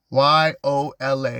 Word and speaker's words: Yola: Yola the queen Yola y o l a Yola Yola we say your